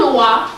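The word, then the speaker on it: Loa: Their Loi is written L-O-I, our Loi is written L-O-A. Both are pronounced the same way.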